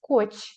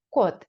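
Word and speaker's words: 꽃: слово Прочитайте добре друзі Це слово пишеться як коч але читається як код давайте згадаємо Якщо у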